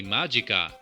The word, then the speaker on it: Magica: was curious to play magicka and see how it translated to 16-bit land disclaimer i know that this is pronounced magicka judging from the sampled speech in the game but after the excellent